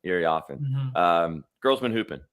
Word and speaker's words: Iriafen: Yeah, it's the IA. It's the IA in the middle. Iriafen.